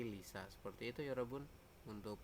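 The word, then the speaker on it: 리사: real seperti itu ya, tapi dibacanya bukan Risa tapi Lisa, seperti itu ya, Robun, untuk pengecualiannya ya.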